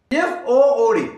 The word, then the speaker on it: food: Whereas F-O-O-D, F-double-O-D, it is not food but a food. The difference is that in good it is short pronunciation, whereas in food it is strong pronunciation. U is very strongly pronounced.